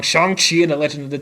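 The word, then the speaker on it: Shang-Chi: about loki really really soon and then uh shanxi in the legend of ten rings will be coming out yeah yeah yeah i'm gonna keep saying it wrong shang chi in the legend of the ten rings that's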